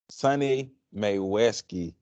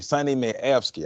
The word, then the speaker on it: Mayewski: So once again, people, Sonnie Mayweski, excuse me, Sonnie Mayewski.